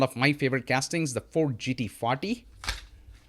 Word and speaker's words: Ford GT: We have the Ford Escort RS 2000, and this is one of my favorite castings, the Ford GT40. I often say Ford GT rhymes with beauty, right?